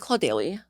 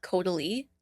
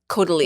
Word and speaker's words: Caudalie: First one is first of all, is it Claudely? Claudely? Sorry. How do you pronounce that brand? Caudalie. Caudalie. What did you call it? Claudely.